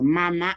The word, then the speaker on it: mama: Más de 1000 palabras, comenzando de mamá, simplemente para tipificar como lengua española, mamá, agregó, pero mama es el verdadero, la verdadera pronunciación.